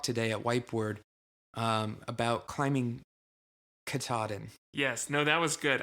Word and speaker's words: Katahdin: It's actually really close to the word kata.